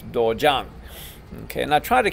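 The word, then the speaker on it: 도장: Here we have dojang. Okay, most of us will say dojang, or we'll hear that dojang. That's a West Central Texas, I don't know, Alabama twang, and it's not dojang, it's dojang.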